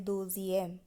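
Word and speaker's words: deuxième: তো আমরা দুয়ের ক্ষেত্রে বলেছিলাম দো, এখানে দোজিয়েম, থোয়া থোয়াজিয়েম, কাত্রিয়েম, সাংকিয়েম, সিজিয়েম।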